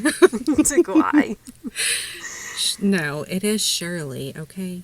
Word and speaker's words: Duguay: We're taking It's pronounced Shirley. Duguay. Duguay.